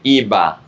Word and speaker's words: iba a: It's IBA A, but when you pronounce them together, you say IBA.